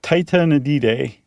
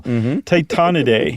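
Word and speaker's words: Tytonidae: Um titanidday. I added an extra syllable. Titaniday.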